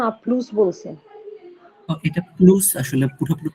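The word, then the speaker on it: à plus: ভাইয়া ও তো আপলু বলছে না আপলুস বলছে? এটা প্লুস, আসলে পুরোপুরি প্লুস বলে না, আপলু এরকম আপলু। ভাবে বলে লাস্টে। ও প্লুস লাস্টের বলছে? হ্যাঁ, না ওই লাস্টে এসটাকে উচ্চারণ করবে না, আপলু।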